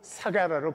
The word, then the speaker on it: 스가랴: 그러므로 의인 아벨의 피로부터 성전과 제단 사이에 너희가 죽인 바라가의 아들 스가랴가 예수님 당시에는 그 발음이 사가라로 발음을 했죠.